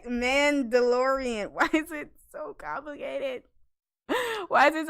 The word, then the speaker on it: Mandalorian: that the streaming service yeah plus called the malla DeLorean did I say it right I said it right mandalorian why is it why there's ARDS me man